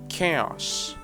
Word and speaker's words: chaos: And finally, chaos. This is spelled with the CH, and CH is more commonly pronounced tiv, like in church.